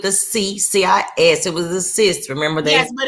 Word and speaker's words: cis: It was a cis. Remember that? Yes, but it's pronounced. But it's pronounced like cis. SISS. Right.